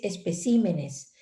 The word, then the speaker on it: especímenes: El singular es espécimen y el plural es especímenes, pero ese desplazamiento al acento en sí es para el plural.